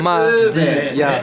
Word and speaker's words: Madia: Faut le prononcer à la One Piece. Ouais. Madia.